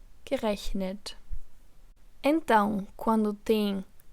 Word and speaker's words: gerechnet: Portanto, no caso do particípio 2, com essas terminações de radical, um E é inserido entre o radical do verbo e a terminação T do particípio.